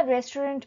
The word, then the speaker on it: restaurant: যদি আমরা রেস্টুরেন্ট বলি মানে উচ্চারণটা এরকম করে করি, বাট বানানটা হচ্ছে RESTAURANT।